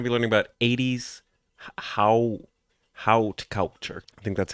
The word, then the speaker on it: haute: Haute. That's how you pronounce it. I guess H-A-U becomes O.